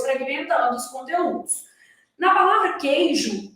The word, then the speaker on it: queijo: Então, na palavra queijo, eu tenho 6 letras e 5 fonemas. Esse U da palavra queijo, ele está formando um dígrafo.